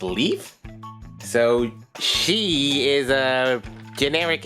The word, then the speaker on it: Leaf: the empty space here so leap or leaf yeah this letter can be pronounced either way I guess I'll go with leaf so she is a